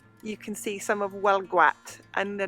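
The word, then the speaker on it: Huelgoat: can see some of well gwat and the name of our village is written whoa gate h-u-e-l-g-o-a-t so it looks like who else goat but it's breton not french breton and the pronunciation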